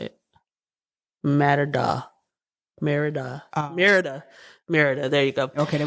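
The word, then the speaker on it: Mérida: Merida.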